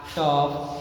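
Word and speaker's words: tough: हो तो vowels letters, तो जी एच का प्रोनाउंसिएशन जो होता है एफ के जैसा होता है, जैसे लाफ, टफ, रफ, कफ, समझ लगा ना।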